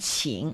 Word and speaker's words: 情: The meaning of it is not important, but you see the resemblance of the pronunciation 青 and 情, right?